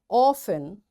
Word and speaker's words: often: passen castle or castle often whistle soften hasten bustle and gourmet. There are different words but in all these words T is silent.